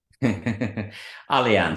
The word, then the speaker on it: Allianz: yeah right yeah how do you say it Allianz so um I've seen them all over I